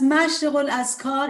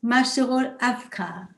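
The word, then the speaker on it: Mashriqu'l-Adhkár: We pronounce as Mashriq al-Askar in Persian. But as far as I understand, DH is in Arabic, Mashriq al-Afkar.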